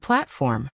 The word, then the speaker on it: platform: Chauffeur, carriage, luggage, and platform.